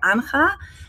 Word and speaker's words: Anja: people don't know, because my name is spelled A-N-J-A, and a lot of people would say Anja or Anja. But with that name, they get used to this, like A-N-J-A is spelled Anja and not Anja or Anja or Anja.